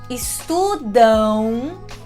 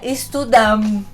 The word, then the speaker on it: estudam: Estudam. A minha boca quase fecha, mas ela não fecha. Estudam. Não é estudam. Você nunca pode fechar a boca.